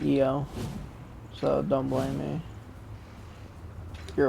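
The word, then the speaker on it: Io: go to um eo i know it's spelled i o but it they literally pronounce it eo so don't blame me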